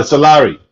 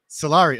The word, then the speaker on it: Solari: you pronounce it uh Solari Solari okay there you go yeah so I'm using my bad French accent and it's wrong completely it's actually Italian it's Italian oh yeah